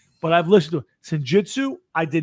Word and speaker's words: Senjutsu: Senjutsu.